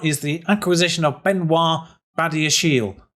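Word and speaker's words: Badiashile: the acquisition of benoit badashiel that's how i'm reliably informed it is pronounced so baddie's shield has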